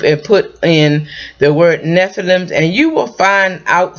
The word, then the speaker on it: Nephilim: or the word is Nephilim or Nephilim it depends on who you talk to I call them Nephilim um they were giants